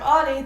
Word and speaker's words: Audie: I'm Audie. The O is silent, and it has always been silent, and it always will be silent for all of eternity.